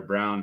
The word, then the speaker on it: Braun: as the starting or brown however you say it project as a starting yeah Brown yeah he it's spelled Brun but he pronounces it brown which is it is